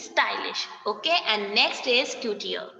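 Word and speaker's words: couturier: Okay, and next is coutier. It is not couture, it is coutier.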